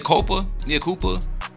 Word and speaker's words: Mea Culpa: it yeah what it mopa Mia Koopa how is that how you pronounce it yeah so we G